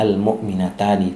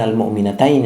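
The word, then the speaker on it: الْمُؤْمِنَتَانِ: rumus yang sudah ada maka bacanya almukminatani bukan almukminatain tapi almukminatani karena dia posisinya jadi fa'il dan irabnya Rafa Kemudian yang kedua almuslimataini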